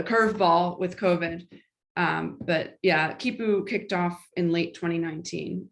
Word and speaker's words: Khipu: And then from that, some Latin American AI researchers said, we want to do the same in Latin America, and launched KIPU, which is spelled KHIPU.